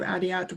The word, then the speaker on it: Adiat: And after you, Adiat, we'll move to Tim. Thank you. My name, the T in my name isn't pronounced, so my name sounds like Nadia without the N, Adia.